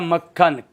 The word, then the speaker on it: मक्खन: मक्खन नहीं होता है, शब्द होता है मक्खन, क आधा क पूरा।